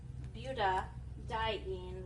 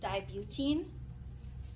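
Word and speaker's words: butadiene: like how it says we insert an a there to ease the uh pronunciation so 1 three buta dine rather than saying like 1 three dibine um um we put the D like in the middle of the name so 1 three buta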